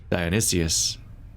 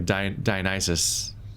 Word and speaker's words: Dionysus: DIONYSUS, or DIONYSUS, I'm adding an extra syllable.